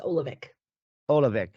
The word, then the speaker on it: Oluvic: in europe you would say it you would pronounce it here in america it's olavik okay all right we are going to be